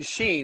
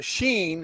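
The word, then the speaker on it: שין: right above it yeah it's seen in sheen and it's shaped like this it's shaped like a w and it's the s sound and it's also the sh sound depending on the application g think about this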